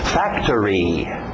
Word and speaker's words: factory: Factory, factory. Pronúncia rápida, o final parece árvore. Tree, factory, factory, ok?